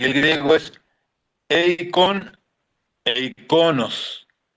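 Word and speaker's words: εἰκών: Eikon e iconos. Entonces, el acento en el griego está en la O.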